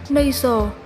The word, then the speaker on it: nasal: Từ số 7, chúng ta có tính từ là nasal, nhấn âm 1.